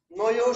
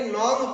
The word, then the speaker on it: নঞ্: নয় সমাস নয় সমাস এটাকে অনেকে নন উচ্চারণ করেন অনেকে নঞ্চ বলে আসলে উচ্চারণ হচ্ছে নয় কিন্তু কোন উচ্চারণ যদি বহুল প্রচলিত হয় তখন সেটাই কি হয় এজন্য অনেকেই আমরা এখন নং বলি আসলে নয় নয় সমাস।